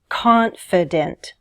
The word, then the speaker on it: confident: Which syllable is stressed in the word confident? Confident. The first one is stressed, right? This means the other two vowel sounds are unstressed. Take a look at the phonetic transcription. Confident. See how the E becomes a schwa? In fact, some dictionaries show confident like this, with two schwa symbols.